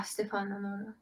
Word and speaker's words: Stefano Nurra: Yeah, Stefano Nurra.